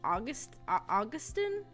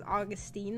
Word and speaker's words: Augustine: they say they say the character's name is pronounced August Austine but the person the narrator of the second book is pronouncing his name as Augustine the whole time so you know